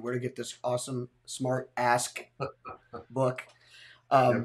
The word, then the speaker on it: SmartAsk: to get this awesome smart ask book um make sure you pronounce that k oh yeah man it's